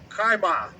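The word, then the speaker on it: חֵמָה: The next word in that precept was wrath, and that is Strong's H2534, and the pronunciation, if I have that correct, is kaima.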